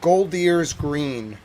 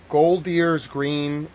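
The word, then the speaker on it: Golders Green: Um the excuse me, let me get the exact pronunciation right. It is Goldier's Green. Gold Deers Green, which is five kilometers, five miles north of London.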